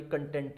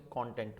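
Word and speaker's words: content: संतुष्टि जिसे कहते हैं तो जब संतुष्टि बोलेंगे तो सेम स्पेयरिंग के बोर्ड को अब कंटेंट बोलेंगे जब उसका इन बीटीएन की बात करेंगे तो आप इसे कॉन्टेंट बोलेंगे जिस कॉन्टेंट कंटेंट मैटर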